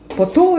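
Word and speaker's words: পটল: Потул или как? Правильно. Потул. Потул. Ну, в принципе, не знаю, может, немножечко неправильно произношу. Вот, это оказывается... Потула.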